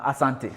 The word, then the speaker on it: asante: You say asante.